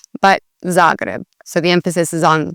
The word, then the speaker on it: Zagreb: said a lot is Zagreb. Again, putting the emphasis on the second part of the word and not the first. Here in Croatia, a lot of the emphasis is on the first part of the word.